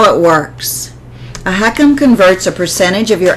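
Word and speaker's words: HECM: you and I talk what is a home equity conversion mortgage pronounced heckum it's also known as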